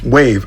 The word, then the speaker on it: WAV: the spelling is wrong it was just an abbreviation for the word wave because back then you